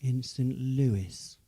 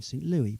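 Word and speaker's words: St. Louis: film called meet me instant lewis and had i not watched the film i would have mispronounced it because i always thought it was called meet me in st louis but there is a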